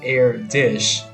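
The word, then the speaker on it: Erdős: But Paul Erdos, yeah, pronounced Erdish, he was a couch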